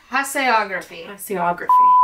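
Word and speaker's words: tasseography: The official pronunciation. What's the official scientific name for tea leaf reading? Tassiography is a term. Tassiography.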